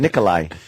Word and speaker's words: Nikolai: No, it's kind of an H-y sound, Nikolai.